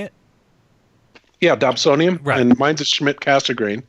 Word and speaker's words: Dobsonian: know somebody bought me a I don't remember Dobsonian is how you say it yeah Dobsonian Ryan mines of Schmidt Cassegrain right so somebody